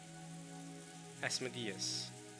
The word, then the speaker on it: Asmodeus: most sense though asmodius it is closer to the ancient greek asmodius asmodius asmodius okay i